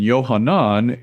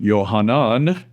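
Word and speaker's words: יוחנן: In Yohanan, it's pronounced O.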